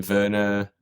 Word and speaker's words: Werner: But in English I'd like sort of go between Vera like the British people would say and like becka sounds good.